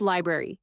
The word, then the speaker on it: library: We're not picking berries. It's library.